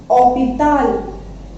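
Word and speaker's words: hôpital: ठीक है, पे, ई, ते, आ, एल, ऑपिताल. और ऑपिताल इसको क्यों बोलेंगे, because H is silent in French.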